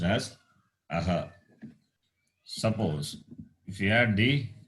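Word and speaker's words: अः: Some people say iha, not iha at all. Aha.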